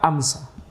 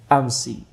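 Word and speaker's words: أمس: Maka ini dibaca ma ra'aituhu muz amsa. Dibaca amsa. Yani mu'rab ghairu munsharif. Adapun penduduk Hijaz akan membacanya ma ra'aituhu muz amsi.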